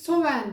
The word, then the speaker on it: Samhain: Cadılar Bayramı olarak bildiğimiz söven sen hey şekilde yazılıyor Biz sowen diye telaffuz ediyoruz bu bayramın özelliği bugünün